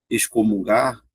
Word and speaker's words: excomungar: Quando você fala excomungar, você pronuncia os dois, ó, excomungar.